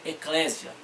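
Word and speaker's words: ἐκκλησία: a palavra em igreja em grego se pronuncia eclésia é a palavra em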